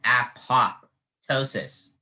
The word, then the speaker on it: apoptosis: the actual uh pronunciation there's a silent letter uh if i had gone just off the uh actual pronunciation i would have spelled like a-p-o-t-o-s-i-s but since i asked the alternate pronunciation the judge revealed that there is a p right here between the o and t apoptosis and if i